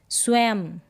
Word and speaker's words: स्वयं: Next क्या है, यदि यह बिंदु शब्द के अंत में यानी कि लास्ट में आए तब इसका उच्चारण होगा जैसे स्वयं, एवं, म करके इसका आधा म करके इसका उच्चारण हो रहा है, साउंड आ रहा है, मतलब आधे म का म, ऐसे स्वयं या एवं।